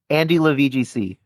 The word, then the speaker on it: AndyLaVGC: It's AndyLaVGC. It's like if you were saying my name. My name's Andrew. AndyLaVGC.